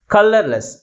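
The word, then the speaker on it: colourless: లేకుండా అలాగే ఉంటుందన్నమాట okay కలర్ లెస్ కలర్ లెస్ దీంట్లో ఎన్ని సిలబస్ ఉన్నాయి మొత్తం త్రీ సిలబస్ ఉన్నాయి అయితే ఏ సిలబల్ ఎక్కువ ఫోర్స్ గా పలుకుతుంది ఫస్ట్ సిలబలే మిగిలిన సిలబస్ కంటే ఎక్కువ ఫోర్స్ గా పలుకుతుంది ఓకే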